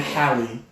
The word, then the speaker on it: Halle: Chloe in this house it is happy because I always think Halle Berry and it makes me say it wrong so it's Chloe and Halle yes so Chloe inhale